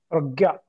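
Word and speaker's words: prajñā: It is prajna, right? Yeah. Dr. Mamta, can you please highlight? What? Prajna? Pragya. Pragya. Okay. Pragya.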